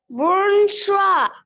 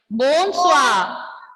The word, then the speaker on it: bonsoir: Bonsoir. Très bien, très bien. Bonsoir. Bonsoir. Pronunciation is bonsoir. How will you pronounce this? Bonsoir. Bonsoir. Oui. Bonsoir. Ending letter R will be silent.